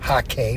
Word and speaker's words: hake: using the large Ron Ranson hake goat hair hake brush as it's properly pronounced so here's the thing I got this